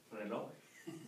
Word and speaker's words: reloj: I thought that was ese. That's no, it's jota. Jota. Jota. Huh? Reloj. That's reloj.